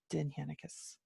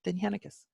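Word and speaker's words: Dindshenchas: that you need to understand, the Dinhenicus. That's Dindshechas, just in case you've seen it but you don't know how to pronounce it. So now you do, Dinhenicus.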